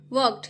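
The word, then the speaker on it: walked: व क ड वक वर्क्ड यहां एल जो है साइलेंट होता है वर्क्ड क्वाइट वर्क्ड अ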